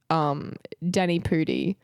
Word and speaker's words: Danny Pudi: yeah, I thought when you said Daniel Radcliffe that you meant Danny Pudi.